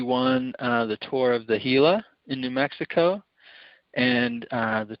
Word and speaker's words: Gila: I thought I'd get you on the Tour of, is it pronounced Gia or Gia? Gila, yeah. Gila.